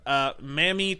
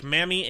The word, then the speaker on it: Mami: So moving on to our next character, we have Mami Tomoe. I think is how you pronounce her first name. I think it's Mami. It's M-A-M-I. I think it's Mami is how they pronounced it.